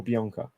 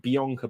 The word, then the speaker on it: Bianca: How do you pronounce it? Bianca or Bianca?